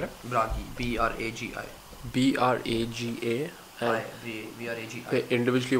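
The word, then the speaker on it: Bragi: How do you spell it? Brahi.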